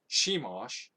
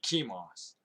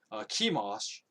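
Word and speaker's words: Chemosh: a high place for i think it's pronounced shimosh or no sorry no it would be kimos because the ch would be pronounced as a k kimash the detestable god of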